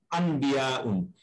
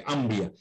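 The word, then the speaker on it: أنبياء: এটা কিন্তু আনবিয়া না, এটা শুদ্ধ উচ্চারণ ময়ের মতো হয় না, ময় ব হয় আর কি, আম্বিয়া।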